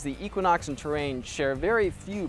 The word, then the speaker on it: Equinox: been reminded is pronounced Equinox, not Equinox, by my colleagues and readers. Sorry, I'm really working on this whole emphasis thing.